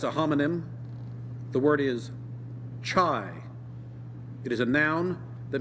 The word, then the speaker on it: chai: a cup of chai chai am I saying it right yes try can you give